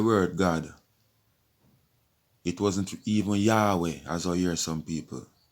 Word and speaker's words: Yahweh: God was YHWH, where you just pronounce Yahweh.